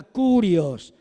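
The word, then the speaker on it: κύριος: Y cuando se traduce del hebreo, del Adonay al griego, se usa la palabra Kirios o se pronuncia la griega curios.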